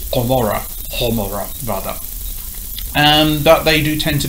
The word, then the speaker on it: Gomorrah: An example of that is the word Gomorrah, which is actually Homora.